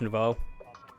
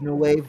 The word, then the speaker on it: Novo: out oh paint brush Novo yeah yeah that's the one that was added I think I never I thought it was noo or something it was Novo that's how you say it okay I just got